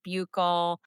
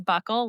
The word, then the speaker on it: buccal: It's buckle administration. So, it's not like your belt buckle. It's spelled B U C C A L. And you might hear people say bugle.